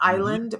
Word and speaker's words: Iland: Now, here's the thing about when you say island, because it's pronounced just like the piece of land out in the ocean, Mhm. island, but it does not have the S.